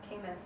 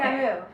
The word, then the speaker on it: Camus: And so I was given a Camus book, Albert Camus. I'm saying it wrong. It's French. Okay. Camus, right? Camus?